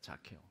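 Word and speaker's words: Zacchaeus: 영어로는 뭐라고 발음하는지 아세요? 이 영어 단어이 사케오 이름의 영어 단어가 제로 시작해요. 자케오라고 합니다. 자케오.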